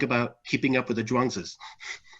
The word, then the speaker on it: Zhuangzi: They're both pronounced z, and so the name is Zhuang, and the z is an honorific.